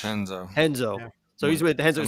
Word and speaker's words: Renzo: Is it Chenzo? How do you say Henzo with an H. It's Henzo.